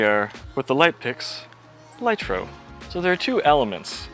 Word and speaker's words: Ligtro: so here we are with the light picks light row so there are two elements of the light